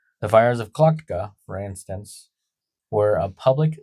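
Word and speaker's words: Tlachtga: The fires of Kucka, spelled T L A C H T G A, pronounced clocked. C L O C K E D. The fires of Kakka for instance were a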